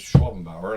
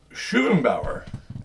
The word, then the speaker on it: Schwenbower: name and I said, "Yeah, it's Schwenbower." And he goes, "Oh," he goes, "Shuenbower." And I said, "Well, you're pronouncing it wrong." But you know, you get the gist, right? Close enough. He was pronouncing it right. We've been pronouncing it wrong as a family for generations apparently.